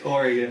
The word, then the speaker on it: Oregon: people until hey oh my apologies pronounce Oregon all right there's one thing I took away from a dog from him it's pronounced Oregon that is true my